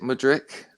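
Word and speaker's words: Mudryk: I'm gonna go for Physicians because I can't pronounce some of the names um mudrick is it Modric yeah a lot of people yeah him yeah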